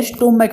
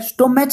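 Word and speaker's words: stomach: क्या करोगे प्रोनाउंसिएशन का, तो स्टोमैक होता है, स्टोमैक स्टोमैच नहीं कह सकते, स्टोमैच ये क्या होता है स्टोमैक होता है ठीक है।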